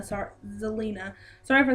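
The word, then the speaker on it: Zelina: the victory so first one it's Andre and Selena sorry Zelena sorry for saying his name wrong I am like suck at his name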